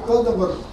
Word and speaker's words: Гадамер: Но я ударение ставлю на первый слог, у немцев обычно на первый слог. И в энциклопедии тоже на первый слог сказано.